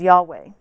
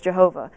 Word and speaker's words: Yahweh: It used to be pronounced by the Jewish people thousands of years ago, and most scholars believe that the correct pronunciation is Yahweh.